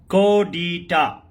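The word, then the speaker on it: coup d'état: कूडिटा. कोडिटा. लेकिन spelling must है, इसमें पी साइलेंट है. ये फ्रेंच वर्ड है, basically from French to English.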